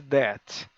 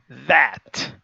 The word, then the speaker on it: that: Por exemplo, não é apenas that, é that. Vocês veem que eu estou fazendo uma força aqui, ó, espremendo o som.